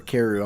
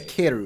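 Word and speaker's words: Kaeru: me quickly get myself back in character more syllables than what's there for kiru I'm like kieru and I'm like hero keru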